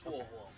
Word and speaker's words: Huo: Huo. Bro. Forget it. Her name's Ho now. She's a bird. She's a Pokemon. Huo. Think of woe is me, but you say an H for it.